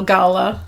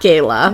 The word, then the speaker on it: Gala: I meant to, but I love it because he said his name is pronounced Gala, not Gayla, even though he is